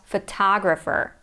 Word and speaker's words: photographer: Then we have photo, photograph, but photographer.